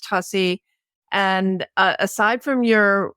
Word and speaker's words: Tuccy: it's Angel tussy it's spelled Tu ccy but pronounced tussy and uh aside from your website in your